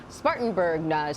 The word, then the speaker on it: Spartanburg: She's joining us from Spartanburg, South Carolina.